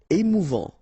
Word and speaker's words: émouvant: Émouvant. Final T not pronounced. A-N together. En. Émouvant.